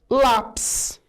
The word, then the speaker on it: lápis: Lápis, ônibus, tênis, são casos desses. Olha, lápis é uma paroxítona, separando em sílaba, lápis.